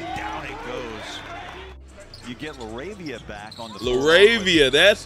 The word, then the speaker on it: LaRavia: It is Laravia. That man been saying his name wrong this whole time.